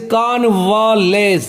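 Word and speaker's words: convalesce: होता है that is कॉन्वालेस। देखिए ध्यान रखिएगा, ए के आगे बिंदी तो इसका आ, एल के ऊपर लकीर तो इसका मतलब जोर।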